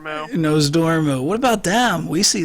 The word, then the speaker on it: Nozdormu: And then they're going to be like, yeah, but what about Alexaza and Nozordumu? Oh, I said his name wrong. Nozdormu.